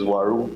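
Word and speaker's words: Uaru: Speaker, I had to get the right pronunciation, and I think the right pronunciation is Waru Plus, and not.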